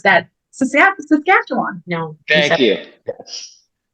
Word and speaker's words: Saskatchewan: Saskatchewan. No. Thank you. Yes. It's Saskatchewan. That's why she's the best. Pretty good, though. She was soft on that first syllable, so I'll accept it.